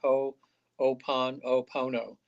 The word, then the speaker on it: Ho'oponopono: yeah, for it's so it's spelled just like it sounds. Ho'oponopono.